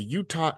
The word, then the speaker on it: Uta: Now you're also a part of the Utah Comics Collective, right? Yes, Uta. Now, Yes, it is a Filipino word. yeah, almost had it. Um, It's okay. where Everyone mispronounces it.